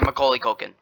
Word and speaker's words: Macaulay Culkin: Yeah, Macaulay Culkin.